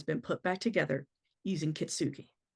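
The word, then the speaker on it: kintsugi: and has been put back together using kitsuki.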